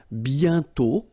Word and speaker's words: bientôt: And then bientôt, okay? Remember, you put this accent circonflexe, but you don't write it. You write it, but you don't pronounce it. And then the final T is not pronounced.